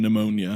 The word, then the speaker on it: pneumonia: Like the P isn't necessary in pneumonia.